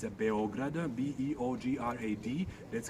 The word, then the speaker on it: Beograd: of belgrade doesn't have l so it's a beograder b-e-o-g-r-a-d that's how it's written and it's a uh pronounced beograd and it exactly means white city